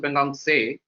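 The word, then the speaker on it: Pangong Tso: Pangong, it's pronounced as Pangong Se.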